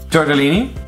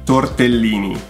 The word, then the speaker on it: tortellini: There are very few rules in Italian pronunciations and you guys get them all wrong. Torrellini. Tortellini.